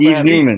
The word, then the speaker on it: Yves Newman: Yves? Am I saying that correctly? Oh, hey. Newman? Yes, you said it right. Thanks, y'all. Yves Newman.